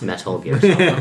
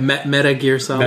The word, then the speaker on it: Metal Gear Solid: It's pronounced Metal Gear Solid. Meta Gear Solid.